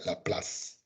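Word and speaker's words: Laplace: la plaza la plaza pero se pronuncia la plaza es un matemático francés entonces aquí lo que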